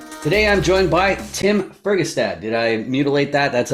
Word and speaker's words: Fergestad: Today I'm joined by Tim Fergestad. Did I mutilate that? That's a good pronunciation of the last name there, Oh, Tim? that's Fergestad.